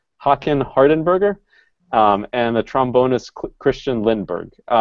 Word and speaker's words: Håkan Hardenberger: I know this trumpet player's name, but pronouncing it still trips me up. It's Håkan Hardenberger, and the trombonist Christian Lindberg.